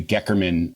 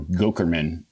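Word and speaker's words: Goeckerman: the Mayo Clinic called the Geckerman treatment, or Gokerman, depending on who is pronouncing it.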